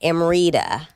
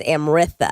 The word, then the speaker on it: Amritha: like, you know, like amida. Yeah. But in India, it's Amritha. Amriita. Yeah. Well, you get that nice th with just a t.